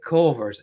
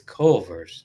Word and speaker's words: Culver's: No, it's Culver's. Culver's. Yeah, there's that extra syllable is a difference between a seafood restaurant and a burger joint.